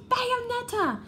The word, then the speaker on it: Bayonetta: Bayonetta? Almost, you pronounced it right! Bayonetta!